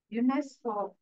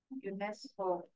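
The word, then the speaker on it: UNESCO: எப்ப யார் பதிவு செய்வாங்க யுனெஸ்கோ யுனெஸ்கோ யுனெஸ்கோ இஸ் அக்ரன்ட் then spelling it அஸ் a word United agent அந்த எழுத்துக்களை உச்சரிக்கும் பொழுது ஒரு வார்த்தையை எப்படி நம்ம ப்ரொனௌன்ஸ் பண்றோமோ அப்படி ப்ரொனௌன்ஸ் பண்ணனும் இது எங்க மேம் வார்த்தை அப்படின்னு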